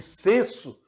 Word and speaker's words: censo: Há uma igualdade sonora, ou seja, senso e senso, seja com S ou com C, tem a mesma pronúncia.